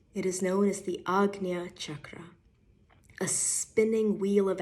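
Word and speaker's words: Ajna: center of your forehead in the west often mispronounced as the AA Shakra in the east it is known as the Agia chakra a spinning wheel of energy of Vortex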